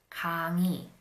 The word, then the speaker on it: 강의: However, when the 의 is not the first syllable of a word, then it is pronounced as e. For example, 편의점 would be pronounced as 편의점. 민주주의 can be pronounced as 민주주의. 강의 can be pronounced as 강의.